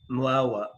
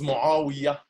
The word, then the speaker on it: Muawiya: We agree entirely with that, Muawa. How do you say your name, please? It is Muawiya. Muawiya, okay.